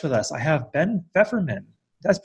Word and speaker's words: Feferman: Bradford Carlton they have a very special guest with us I have been ever men that's how I pronounce it correct you got it perfect hi